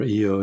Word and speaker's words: Io: I think what would be the killer for humans walking on Io, or Io as it's sometimes pronounced, is the radiation, because it's got this